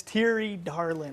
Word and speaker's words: Thierry Darlan: guy over here is T Darlin I said that right right T you say that right we're a lot of